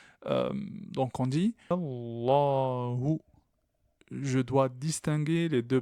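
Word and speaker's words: اللهُ: Et le hu, je le prononce comme un ou, donc français. Hu. Juste, je rajoute le point d'articulation du ha. Allahu.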